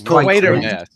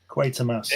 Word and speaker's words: Quatermass: It's Quatermass.